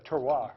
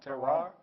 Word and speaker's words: terroir: The terroir, I believe it's called, You can definitely.